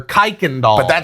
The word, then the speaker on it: Kirkendall: It That's Kwikendall or Kikendall. Houston. That's Houston. If you don't know how to pronounce Kirkendall, you're not from Houston.